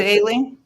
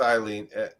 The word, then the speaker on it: Aileen: So that's her name. Aileen. Was it Aileen? Okay. It's Aileen. Yeah, that's how you spell it. Yeah, I guess I everybody I had to look it up. Pronounces it, so I did too. I thought it was Eileen.